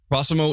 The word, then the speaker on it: Prossimo: digital infrastructure called cimo I I hope I pronounced that right yes prossimo is super cool Sarah works as a Communications